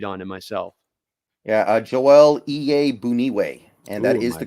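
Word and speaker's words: Joel Iyiegbuniwe: of a read on him myself yeah uh joelle ea boonieway and that is the correct pronunciation i actually looked in on that yeah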